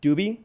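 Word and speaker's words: Dubhe: stars and you and you go from uh Dubbie, which is how it's pronounced, I checked.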